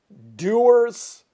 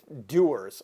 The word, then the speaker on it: Dewar's: my hand here is doors scotch now it's not just doers I think it's how it's pronounced Dewar's doers doers sounds better doesn't it not only is